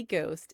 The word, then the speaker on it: ghost: When Caxton's typesetters printed the phrase Holy Ghost, they saw a word that looked like a Dutch word, spelled it the Dutch way, and suddenly ghost had a silent H that it's carried ever since.